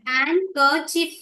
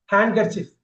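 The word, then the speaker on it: handkerchief: குறிப்பா சினிமா பிடிக்குது ஹேண்ட் கர்சிப் சொல்லுவாங்க சார் ஹேண்ட் கர்சிப் எல்லாமே ஹேண்ட்னு சொல்லக்கூடாது ஹேண்ட் ஹேண்ட் கர்சிப் அத சேர்த்து சொல்றப்ப டி கட் பண்ணிட்டு ஆனா எழுதுறப்ப டி இருக்கணும் எழுதுறப்ப டி இருக்கணும் பேசுறப்ப டி இருக்க கூடாது இங்க பாருங்க ஹேண்ட்சம்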